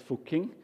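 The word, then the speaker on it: Fucking: and it's called fuking so we aware of the pronunciation it's called fuking and they have a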